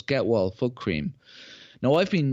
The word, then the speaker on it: Gehwol: So Gewal. Pronounce that? Get Wall. Okay, right. Yeah. Sounds like there's a T in there, but there isn't a T in there. No, there's no T.